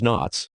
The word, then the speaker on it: NOTS: naval ordnance test station pronounced in short as knots naval weapon center nwc